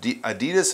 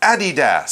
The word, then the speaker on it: Adidas: go to Europe especially if you're in Germany don't be surprised if people say that's not how you say that company it's Eddie dass so yes they say